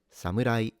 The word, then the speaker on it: samurai: Also note that it's a m rather than moo. And the R is a sound in between the L and the R in English. Kind of similar to the flapping you do when you pronounce the T in the American way, such as beauty.